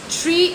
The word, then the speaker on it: tree: Rodrigo, tree e three não são homófonos. A pronúncia é diferente, tá?